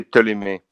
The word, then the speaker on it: Ptolemy: In French, you would say Ptolemy. In French, you would say the P.